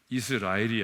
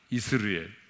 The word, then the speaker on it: 이스르엘: 이스라엘이 아니에요. 이스르엘. 따라서 하겠습니다. 이스르엘. 이스르엘.